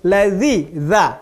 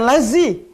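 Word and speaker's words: الذين: peleci yang kita lanjutkan sirotol ladzina rakyat bukan lazim banyak orang bacanya lazim tapi lazy zat-zat zizou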